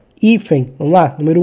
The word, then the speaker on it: hífen: A sílaba tônica está no I, que é o número 2, ou no fen, que é no número 1. Eu falo hífen, eu não falo hífen. Então, o I é a sílaba mais forte, está no número 2.